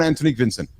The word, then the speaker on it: Antonique Vincent: Shine the light more on Antonique Vincent. Oh yeah, definitely. And also, I didn't even tell you how to pronounce my name, and you pronounced it perfectly spot on.